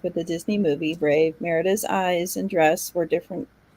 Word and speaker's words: Merida: you for one second are you saying her name is not Meridia it's Merida yeah it's Merida Esther